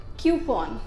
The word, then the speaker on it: coupon: हम इंडियंस उसको बोलते हैं कूपन, लेकिन ये गलत प्रोनाउंसिएशन है। Just see here, the correct pronunciation is कूपन या फिर क्यूपन।